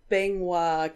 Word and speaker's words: Bangwa: So, looks like we landed on the Bangwa Kingdom. That's what the pronunciation webpage told me it sounds like.